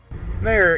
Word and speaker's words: mayor: have Richard and Haslett mayor is one syllable the mayor of Dallas Laura Miller allowed the Dallas Cowboys to move to Arlington Richard you just said it with two syllables no he didn't you